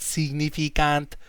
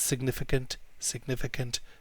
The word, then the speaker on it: significant: It's not significant, it's significant.